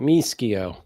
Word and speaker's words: Mishio: at this point, Greg Mishio. I think I'm saying that right. Mishio. Yeah, if you're in Italy, they would pronounce it MSO.